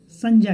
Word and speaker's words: संज्ञा: और आज जो हमको बात करने आज हमें बात करनी है संज्ञा के बारे में।